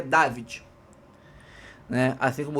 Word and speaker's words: Davide: Eu vi aí a pronúncia em italiano dele, dizem que é David.